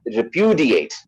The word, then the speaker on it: repudiate: is not like that it's a syllable stressed word all right so it is like repudiate repudiate that's how this word is pronounced all right so we're